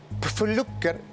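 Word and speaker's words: Pflücker: la verdad es que el señor Flucker se pronuncia así, ¿no? Pfluer porque es P, F y L.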